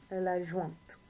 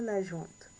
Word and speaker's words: l'adjointe: L'adjoint, l'adjoint, l'adjoint, oui, l'adjoint ou l'adjointe. L'adjoint or l'adjointe. And we are pronouncing this T because of the E at the end.